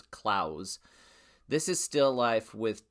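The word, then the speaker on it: Claesz: Peter Clos. It's not not I always used to say Peter Claus, but it's Claus.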